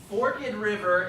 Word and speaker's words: Forked River: Forked River is how you pronounce it.